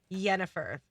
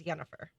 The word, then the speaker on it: Yennefer: of the name Jennifer which is the Polish pronunciation is yenifer so you say Jennifer and polish say yennefer yeah I thought you sent us something that